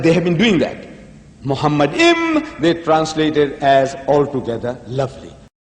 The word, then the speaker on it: Muhammad: According to Ben Yehuda's Hebrew English Dictionary, it is correctly pronounced as Muhammad.